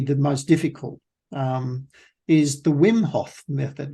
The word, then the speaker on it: Wim Hof: happens to be the most difficult, is the Wim Hof method. Wim Hof. W-I-M. Spell that.